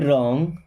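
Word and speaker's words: wrong: he done to यू रंग में W silent होता है व्हाट रंग सस ही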